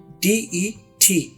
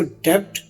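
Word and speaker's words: debt: Date में B silent है, इसकी कोई आवाज नहीं है। DET, जैसे बी यहाँ पर है ही नहीं। DET, डेट, इसको डेप्ट नहीं पढ़ना, इसका मतलब है कर्स।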